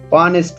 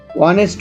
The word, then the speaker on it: honest: For example an honest man, an hour, etc. উদাহরণস্বরূপ এখানে যখন আমরা honest উচ্চারণ করতেছি তখন এইচটি উচ্চারণ হচ্ছে না, তারপরে যে ভাওয়াল রয়েছে ও সেটিকে উচ্চারণ হচ্ছে honest।